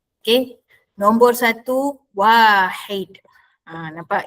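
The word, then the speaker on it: واحد: Perhatikan ejaan dan dengar sebutan yang betul. Nombor satu. Wahid. Wahid. Wau alif ha dal. W a garis atas. H garis bawah. I wahid. Bukannya wahid. Aa bukannya wahid. Wahid.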